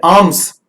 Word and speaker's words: alms: ये नाउन्स जो मैं आपको बताने जा रहा हूं, जैसे ALMS, इसे एल्म्स नहीं बोलेंगे, इसे बोलेंगे आर्म्स। The correct pronunciation of the word is आर्म्स।